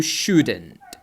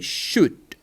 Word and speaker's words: should: you should or you shouldn't check the pronunciation the l is silent so we say should should you should or